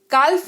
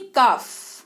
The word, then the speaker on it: calf: काल्फ नहीं काफ, CALF, काल्फ नहीं काफ, जिसका मतलब होता है बछड़ा।